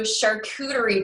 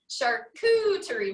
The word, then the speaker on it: charcuterie: who can't pronounce it so this is the funny way to board a church yes because you look at the name and i'm like how do you pronounce that so i'm like so like okay yeah so kind of like cooties in the middle of it charcuterie boards so this